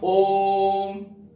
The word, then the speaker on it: ओम: देखिए इस प्रकार देखा होगा, इसका उच्चारण जो है वो कैसे बोलेगा, ओम।